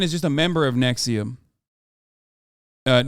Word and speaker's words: NXIVM: prison for sex trafficking Nexium not nixum Nexium sorry not only has